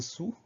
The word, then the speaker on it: sous: Donc on fait attention à cette lettre muette finale, le S qu'on n'entend pas, mais comme c'est un